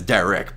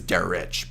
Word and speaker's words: Derich: DSP pronounces it as Derek, but his real name is Derich.